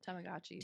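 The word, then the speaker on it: Tamagotchi: oh my go tachis I'm pronouncing it wrong tamagachi tamagachi I had it the first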